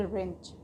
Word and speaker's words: wrench: WRENCH, इसे हम पढ़ेंगे रेंच। इसमें भी हमारा W साइलेंट रहेगा क्योंकि W लेटर के बाद हमारा R लेटर है, इसको हम पढ़ेंगे रेंच।